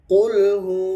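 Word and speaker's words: قُلْ: এজন্য এটা খেয়াল করবেন কফটা ভারি করে উচ্চারণ করবেন কুল তারপরে আল্লাহ শব্দটা উচ্চারণটা ভারী হবে।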